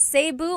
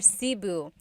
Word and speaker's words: Cebu: So, technically in the Tagalog alphabet, the letter E can be pronounced E or E like the letter I. So, I say Cu. Cebu. And I know some people say Sabu, but usually it's either Cu or Sebu.